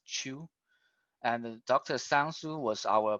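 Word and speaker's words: Qiu: Mekong chew his last name is Qi you by the pronunciation is Chu and dr.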